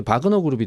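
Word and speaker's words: Wagner: 바그너가 맞아요? 와그너가 맞아요? 뭐 보도들마다 조금씩 다르던데. 어떤 식의 발음을 하느냐, 그러니까 독일식 발음이냐, 영어식 발음이냐. 그렇죠. 예, 그런 걸로 알고 있어요. 이거 좀 통일해 주십시오. 우리 언론들에게 부탁드립니다. 원어에 가까운 건 이제 바그너 그룹이 되겠죠.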